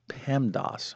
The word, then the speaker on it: PEMDAS: Now, this is a saying, and we pronounce this as PEMDAS, all right?